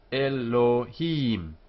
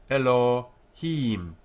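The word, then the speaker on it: אֱלֹהִים: here e here Elohim it's not o as in note um that is the Eastern European pronunciation not the Spanish and Portuguese it's Elohim the accent here with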